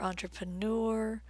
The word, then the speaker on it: entrepreneur: the last vowel sound this word is from French and words that were adopted into English from French such as engineer and entrepreneur tend to be stressed on the last syllable next vowel is Molly